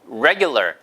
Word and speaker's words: regular: regular. 이 발음만 하시면 돼요.